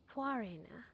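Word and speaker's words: Khvarena: Oh, that's how you pronounce that? Quarina.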